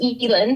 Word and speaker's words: Elin: Yeah, and it's pronounced Elin, so it looks like Elin.